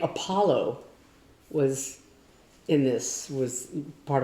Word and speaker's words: Apollo: but she was and the word Apollo was in we all had this little books and she said something about apoo like um wrong culture she makes it